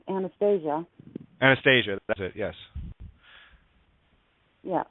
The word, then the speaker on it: Anastasia: Can we repronounce that properly, just so people know what it's really about? It's about anesthesia.